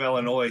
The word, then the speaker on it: Illinois: Illinois and speaking of Illinois Sam thank you for saying Illinois right it is silent s ucks Illinois no problem